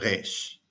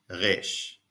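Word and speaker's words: ר: Some Israelis pronounce it like the dental Spanish or Italian R, but most pronounce it like the guttural French or German R.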